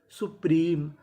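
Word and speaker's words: supreme: अब देखिए यहाँ पे एम ई के आखिरी में ई है, और आपको पता है कि ई का उच्चारण हमें नहीं करना। तो मीनिंग क्या बनी? सुप्रीम।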